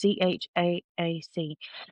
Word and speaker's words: Chaac: The worship of water deities such as Cha, I think that's how you say it. It's Chaac, the god of rain and fertility, frequently took place at these locations.